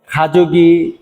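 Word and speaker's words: 가족이: এখানে নবম অধ্যায়ের নামটি হলো খাজুগি মিয়ত মিয়ং ইয়েইয়ো। আমি স্লোলি পড়লাম। খাজক অর্থ ফ্যামিলি, তার সাথে ই সংযুক্ত হয়ে উচ্চারণ হবে খাজোগি।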